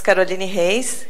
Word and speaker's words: Caroline Reis: Brazil to talk you my name is kolini Hayes if you want to pronounce it in in Portuguese but uh I accept